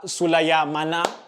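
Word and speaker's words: Sulemana: hand side they started with uh kamal sula sulaya mana yeah so that's how you pronounce it they've got very long names guys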